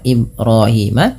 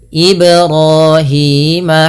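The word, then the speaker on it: إبراهيم: Yang pertama tidak memantul, contoh Ibrahima. Yang kedua menambahkan hamzah, contoh Ibrahima. Itu tidak boleh ya. Maka bagaimana cara membacanya? Ya memantulkan saja sesuai dengan makhrajnya.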